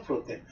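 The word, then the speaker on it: πρώτην: 이거 이제 길게 발음해야 됩니다. 프로텐.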